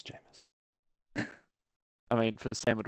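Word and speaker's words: Jameis: he said it wrong he said it wrong it's famous jamus I mean for Sam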